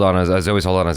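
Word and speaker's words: Saldaña: And the interesting thing was watching Zoe Saldana's interviews behind the scenes. I'm saying her name wrong, I'm sure. Yeah, I just learned that it's Saldana.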